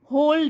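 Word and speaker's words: whole: डे, इस भक्त को होल डे, ये डब्लू साइलेंट है इसमें, होल मीन्स पूरे दिन,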